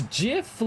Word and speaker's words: GIF: when it's that dry it's JF like Jing the Creator says it's a soft G like giraff but whatever you want